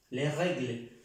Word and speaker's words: les règles: Para decir las o los, esa S no se pronuncia. Notan que yo digo le. Esa E, al estar esta S, hace que esta E suene como una E en español. ¿De acuerdo? Pronúncialan como si fuera en español, pero esa S desaparece.